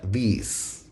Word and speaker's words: these: Y este sí que se pronuncia como la I nuestra, these.